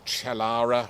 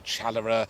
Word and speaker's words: Chalara: disease yes Ash dback chalara or chalera it's got several pronunciations and it's devastating the